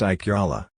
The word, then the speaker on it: ikala: Also, if an I precedes a K, that K is followed by a Y sound. Ikala, girl, is pronounced Ikyala.